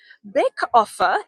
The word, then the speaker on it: Baeckoffe: Bake offe is, you mean you couldn't spell that from that? I'm just kidding. So bake offe is Baeckoffe.